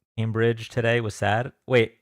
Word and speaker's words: Cambridge: Oh, Cam like ham. Cambridge.